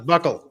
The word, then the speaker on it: buccal: I know the name, but I always pronounce it wrong. There's a It's swab buccal. to determine whether that Shut up. It's buckle.